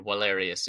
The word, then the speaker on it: Valerius: go back and forth between Valerius and Vindicius or Walarius and Windius if we're in the classical pronunciation.